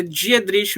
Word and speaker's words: Dietrich: É Dietrich mesmo. É como se escreve, assim, sabe?